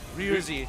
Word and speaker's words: Ryuzi: Ryuzi. Take away the X. Yeah. Take away the X. The X is silent.